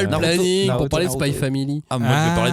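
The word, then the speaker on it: Spy × Family: c'est Spy X Family. Aïe. Ne prononce pas le X.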